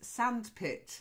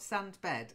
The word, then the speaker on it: sandpit: someone okay the next one is sandpit not stunt bed sandpit dump it dump